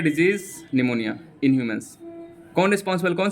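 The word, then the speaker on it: pneumonia: निमोनिया P silent है, पन्यूमोनिया नहीं पढ़ेंगे, जैसे टेरिडोफाइटा को टेरिडोफाइटा नहीं पढ़ते हैं, उसी हिसाब से निमोनिया इसको पढ़ेंगे।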